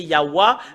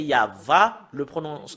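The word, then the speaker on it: יהוה: prononcer concernant la vérité, c'est normalement, d'après les Européens, c'est Yahwa, mais si nous revenons à l'hébreu ancien, c'est Yahva, la prononciation.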